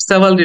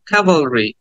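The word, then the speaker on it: cavalry: sound কাভালরি ক্যাভালরি এটাকে অনেকে সেভালরি বলে থাকে বাট সেভালরি না কাভালরি কাভালরি আবার খেয়াল করো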